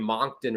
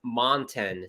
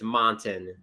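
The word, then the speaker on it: Moncton: uh New Brunswick pissed off because you're saying Monkton Ron it's monten so the sea is silent it's a mountain thank you Jacob for pointing that out it's montin Z are wearing their hockey fights cancer jerseys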